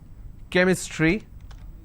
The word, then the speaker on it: chemistry: for example change but when i have the word chemistry ch becomes ker sound so i say chemistry